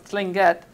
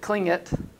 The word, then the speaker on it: Tlingit: So again, the A&B ANS began as a Tsimshian owner, a business owner, and I'm gonna try to pronounce Tlingit, not like the Klingit or whatever I've heard, to emphasize the absolute nativeness of this organization.